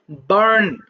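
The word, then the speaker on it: burn: এখানে একটা আর আছে। সুন্দর করে বলবা। বার্ন বারন।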